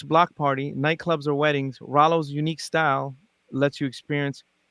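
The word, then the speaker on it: Rhalo: r holo mean yeah i assume it's halo but maybe i'm wrong but like phonetically put it in the chat yeah rallo r-h-a-l-o i i butchered it it's okay oh it's not halo it's rallo okay gotcha hello dj rallo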